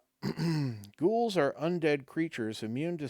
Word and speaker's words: ghoul: Now, I'm pretty sure I'm comfortable with the pronunciation of ghoul, and not gowl, right? I'm pretty sure that's ghoul.